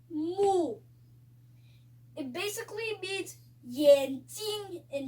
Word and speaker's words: 目: be learning a new word called mu.